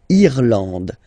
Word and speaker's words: Irlande: Remember, this is E and it should be pronounced like E. Irlande. Irlande. Okay, A-N, en, D, and final E, not pronounced. Irlande.